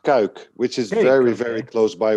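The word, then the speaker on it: Cuijk: Yeah, that is pronounced Kuik, which is very close by where I live.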